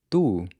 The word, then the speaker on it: tu: But when you say the Portuguese **“tu”**, you don’t have that same puff of air.